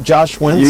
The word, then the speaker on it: Josh Wentz: Josh Wentz?